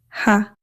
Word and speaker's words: ح: Similar to the English ha in house. Air flows gently from the throat. There is no tongue contact. There is no lip contact. Ha is a light letter. Pronounce it softly and lightly. Place your hand on your throat and feel the air coming out gently.